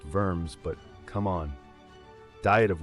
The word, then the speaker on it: Worms: kidding but Luther said nah I know it's pronounced vers but come on diet of worms then Calvin